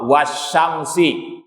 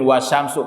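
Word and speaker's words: وَالشَّمْسِ: Ada kata benda setelahnya yang kasrah, wasyamsi. Bacanya nggak mungkin wasyamsu karena ini sumpah. Wallahi, bukan wallahu. Ini redaksi sumpah dalam bahasa Arab.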